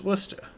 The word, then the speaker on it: Worcestershire: But why is Worcestershire pronounced Worcester?